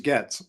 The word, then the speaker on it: Getz: And Getz is not Portuguese, so he's Getz.